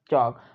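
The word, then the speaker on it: chalk: बन गया हमारे पास चौक अब इसमें वर्ड एल जो है वो हमारे पास साइलेंट है ठीक है इसको किससे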